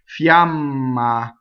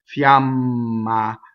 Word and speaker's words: fiamma: per month up top Fiamma so is it mm to semi vowel Fiamma so both odds are equal ah ah right the mm how